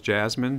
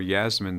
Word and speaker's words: Yasmin: Jazz the chair chair calls Jasmine Smith or Yasmin Smith is did I pronounce that correctly? Yasmin got it on the second try.